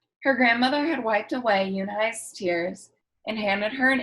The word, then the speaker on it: Unhei: "Une?" the girl asked, scrunching up her face. Une? Some kids chanted. No, Yoonhai corrected. It's spelled Unhei. It's pronounced Yoonhai.